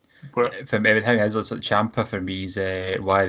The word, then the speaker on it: Ciampa: Ciampa, that's it.